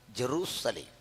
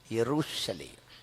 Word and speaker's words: യെരൂശലേം: ഊർ എന്നും ഷാലോം എന്നുമുള്ള രണ്ട് എബ്രായ പദങ്ങളുടെ സമന്വയം ഊർ ഷാലോം. അതിൻ്റെ ഇംഗ്ലീഷ് ലിപ്യന്തരീകരണമാണ് ജെറൂസലേം. അതിനോട് ശരിയായി ചേർന്ന് നിൽക്കുന്നത് മലയാളത്തിലെ നമ്മുടെ ഉച്ചാരണമാണ്. എന്തെന്നാ? യെരൂശലേം. അല്ല, സായിപ്പ് പറഞ്ഞല്ല ശരി, നമ്മൾ പറഞ്ഞാണ് ശരി. മലയാളം ബൈബിളാണ് ഇംഗ്ലീഷ് ബൈബിളിനേക്കാൾ പരിഭാഷ കൊണ്ട് മൂലഭാഷയോട് നീതി പുലർത്തുന്നത്.